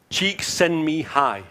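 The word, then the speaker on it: Csikszentmihalyi: by somebody called and I have to pronounce this carefully mihali cheeks send me high I think it's called yeah and it's a state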